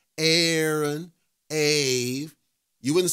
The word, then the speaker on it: Aave: I'm your host and yes I pronounced it a and I'm going to keep pronouncing it a I'm not doing this a Maria nonsense it's a because another person brought up a good point if we were talking Aon you know two A's Aon it's smooth right Aon